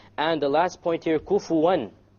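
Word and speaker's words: كفوًا: And the last point here, kufuwan. How did we pronounce the noon there? Clear. Idhar, clear. Why? Because what is after it? The Hamza.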